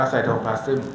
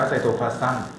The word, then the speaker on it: ไซโทพลาซึม: จะ เรียก ทั้ง หมด ว่า ไซโทพลาซึม นะ ครับ บาง คน อ่าน ว่า ไซโทพลาส นะ ครับ ได้ เหมือน กัน นะ ครับ ซึ่ง ใน